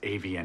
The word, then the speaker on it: Avion: I found the receipt to the Avion Hotel. That's pronounced avian.